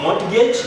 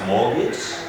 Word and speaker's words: mortgage: We have this word, loans on building houses, not mortgage, but mortgage. T being silent.